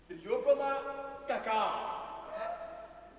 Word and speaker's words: Theobroma cacao: Oh, it is free, and you have to do like this so that you can pronounce it very well. You say Theobroma cacao.